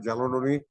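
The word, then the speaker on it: chalcedony: गोष्ट की light blue त्याचा रंग आहे आणि चालोडोनी म्हणून एक क्रिस्टल येतं जॅलोडोनी हा एक वेगळा त्याचा उच्चार आहे तो त्याचं स्पेलिंग जे आहे सी एच एल सी चालसेनी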